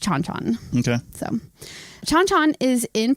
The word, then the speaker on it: Chan Chan: that I've been and I remember it being pronounced chonchon okay so chonchon is